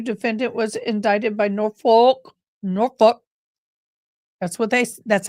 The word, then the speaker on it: Norfolk: 6 of 2022 defendant was indicted by Norfolk Norfolk That's what they that's how they say it